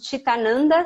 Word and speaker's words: Citananda: recebeu o nome de titânio anda se escreve com c i né mas se pronuncia a ti e todo mundo me